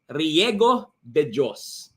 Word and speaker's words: Riego De Dios: right so again let's all welcome coach REO deos there hey good evening Mentor Myan thank you so much for pronouncing my surname very very clearly so it's